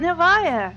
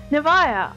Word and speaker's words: Nivaya: than your original tone but Novaya you might say and I would congratulate you on your correct pronunciation of my name Novaya I would like to